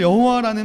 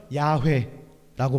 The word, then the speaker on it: 야훼: 사실 여호와라는 말은 음역이 약간 잘못됐죠. 정확하게 발음하면 야훼라고 발음합니다.